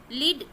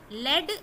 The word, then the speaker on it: lead: अब यहाँ पे देखिए, ये LEAD, एक है लेड, एक है लीड। स्पेलिंग बिल्कुल सेम है दोनों की, LEAD। एक को आप कैसे प्रोनाउंस करेंगे, लेड यानी मेटल होता है, धातु। एक होता है लीड यानी गिव डायरेक्शन, जो डायरेक्शन देता है।